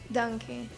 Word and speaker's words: Danke: Se escreve Pfannkuchen. Pfannkuchen. E obrigada? Danke.